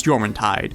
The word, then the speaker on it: Jormuntide: It's Jormuntide. It's pronounced with the Y sound.